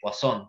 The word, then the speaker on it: Poisson: función de distribución de wason se escribe poison s 3 está además en el módulo se lee son entonces cuando tenemos que